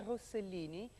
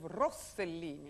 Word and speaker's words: Rossellini: I say Isabella Rosellini instead of Rossellini.